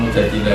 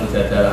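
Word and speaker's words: المجادلة: Memang Mujadilah itu beberapa ulama bacanya Mujadilah, perempuan yang mendebat Tuhan. Tapi ada ulama yang baca Mujadalah karena diambil makdarnya kan, jadalah yujadilu mujadalatan.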